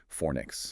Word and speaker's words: Fornix: We pronounce it Fornix. Fornix, got it.